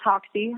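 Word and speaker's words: Hoxie: basketball you're pretty good is it hoxsey high school h o x IE how do you pronounce that yep you're right it's oxy oxy high three seasons there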